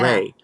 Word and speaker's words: Re: Ray.